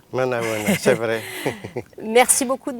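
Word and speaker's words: Manao ahoana: Éminence, alors je vais dire un bonsoir dans votre langue, j'espère que je vais bien le prononcer, Manaona. Manaona, c'est vrai.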